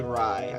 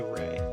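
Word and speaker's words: Rei: Some people say Rye. I say Ray.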